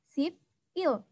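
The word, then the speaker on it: 십일: ada flash perhatikan disini tulisannya adalah sip Il kalau kita bacanya perlu kata dibaca sipil Tetapi kan biasanya orang-orang itu bacanya disambung gitu ya diseret jadi bacanya cybil sip yuk dibaca sipil seperti itu ya jadi angka 11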